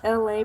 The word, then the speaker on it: Elay: My name is LA, pronounced like LA like the city.